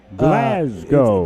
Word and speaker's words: Glasgow: So like a Z. It's not spelled with a Z, but Glasgow.